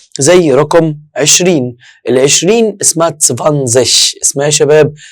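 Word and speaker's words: zwanzig: ال20 اسمها تسفانزش. اسمها يا شباب تسفانزش.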